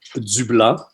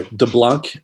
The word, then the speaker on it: DuBlanc: Damita Joe Zubla her full name very French or Dublanc like you you Americans like to pronounce it. We don't pronounce the C in French by the way.